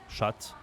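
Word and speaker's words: chat: the cat we and we say la shat or un shat okay so here this is so important not to pronounce the T but they don't precise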